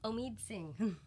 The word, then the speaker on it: Omid Singh: I'm here with my guest, Omid Singh.